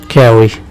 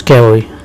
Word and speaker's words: Carew: It is pronounced Carey. Thomas Carey.